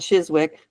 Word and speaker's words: Chiswick: drop the W, or when there's a wick, you drop the so Chiswick is spelled Chiswick, Woolwich, pronounced Woolwich.